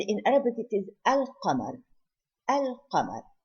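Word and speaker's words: القمر: Al-Qamar. So I pronounce the Lam.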